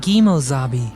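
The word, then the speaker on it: Kemosabe: In reality, the term is pronounced Gimozabi and me.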